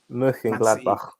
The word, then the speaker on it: Mönchengladbach: Man City is the next game we're going to talk about with Borussia Mönchengladbach and Mönchengladbach. Yeah, that's how you say it. Oh, Lambs is back as well.